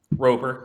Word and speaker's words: Roper: How do you pronounce his name? Roper.